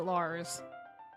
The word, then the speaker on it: Liz: Just spelt like Liz, but you pronounce it Lars.